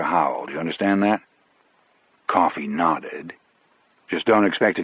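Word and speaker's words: Coffey: Your name is John Coffee. Yes, sir, boss. Like the drink, only not spelled the same way.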